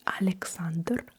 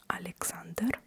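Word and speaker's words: Александр: I will at least I will pronounce it with a Russian accent. So, you have the name Alexander. In Russian, that would be Alexander. Alexander.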